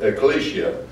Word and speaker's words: ecclesia: I know it's not spelled that way but it's spelt ecclesia ecclesia and kaal means to call so it's referring